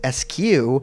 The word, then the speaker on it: SKU: tracked for inventory purposes typically an SKU pronounced with the individual letters or as SQ is associated with any